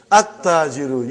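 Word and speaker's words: التَّاجِرُ: At-tajiru. You did not pronounce lam. Why you did not pronounce? Because it is sun letter.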